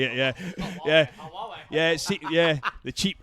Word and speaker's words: Huawei: We've got all the major brands, you know, Apple, Apple, Samsung, Nokia, the Hawaii or Hawaii. I can't I can't spell it. I can never say it. Yeah. Huawei.